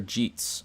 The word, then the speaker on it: Sir Jeets: to surrogates again sir jeets okay my bad by the way it's pronounced like cheats sir jeets gotta pronounce